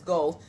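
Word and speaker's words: Goethe: talk about go um I always say his name wrong but it's go second paragraph it says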